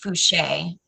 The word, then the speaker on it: Fouché: He says Megan was saying it's pronounced Fouché, which means it could be French.